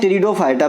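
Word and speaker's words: Pteridophyta: अब आते हैं टेरिडोफाइटा, पी साइलेंट होता है यहाँ पे।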